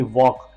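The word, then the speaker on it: walk: टॉक बोल रहे हैं जैसे कि वॉक जैसे कि डब्लू ए एल के वक इसके अंदर एल दिया तो गया है लेकिन हम पढ़ते वक्त एल को पढ़ते नहीं है एक क्या रूल्स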